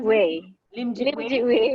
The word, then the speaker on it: Wei: How do I pronounce it? Way.